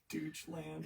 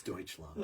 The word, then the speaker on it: Deutschland: one of their um bud pronounces at Deutschland Doge land it's Deutschland oh my gosh um what